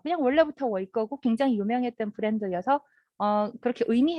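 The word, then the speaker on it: 伟哥: 그래서 사실 저는 중국에 살면서 이게 워이꺼가 그냥 원래부터 워이꺼고 굉장히 유명했던 브랜드여서 그렇게 의미 해석을 안 했는데 한국 분들이 저한테 이게 무슨 뜻이냐 이렇게 물어보시더라고요.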